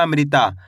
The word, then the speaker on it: अमृता: म में री की मात्रा अमरी अ म में री की मात्रा अमरी ता म आ की मात्रा ता तो मिलके बन जाएगा अमृता कैसे पढ़ेंगे अमृता अगर आप इस तरीके